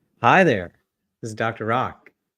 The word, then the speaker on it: Rak: Rock. That is spelled RAK, pronounced ROCK.